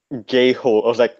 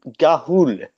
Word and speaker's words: Ga'Hoole: Jane sada a guy actually a guy actually mispronounced Kahoot as gay whole' that's that that's name that's not how you